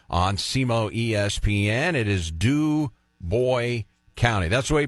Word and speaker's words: Du Bois: It is Du Bois County. That's the way you pronounce it, right? It's not Du Bois, Du Bois.